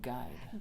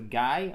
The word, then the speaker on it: guide: Not a guy, okay? A guide, okay? Because I know that some people can get confused.